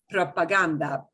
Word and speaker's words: propaganda: like you pronounce it no g gets a heart sound with g-a-g-o okay so propaganda right propaganda but when we get